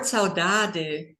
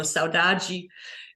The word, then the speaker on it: saudade: The word saudade, or pronounced in European Portuguese, or saudade in Brazilian Portuguese, is a very unique word that is hard to translate.